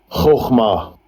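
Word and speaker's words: חכמה: Chokhmah. Wisdom, right? That's how you pronounce it there in the Hebrew and the Greek.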